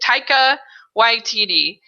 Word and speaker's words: Taika Waititi: Taika Waititi, I think it is. That's how you say it. Taika Waititi.